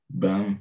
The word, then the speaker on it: BHAM: The acronym is BHAM, or BAM, if you want to to pronounce it this way.